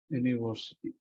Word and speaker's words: university: which is an vowel but look at the pronunciation it is you know university university University so it is a y consonant that's why here the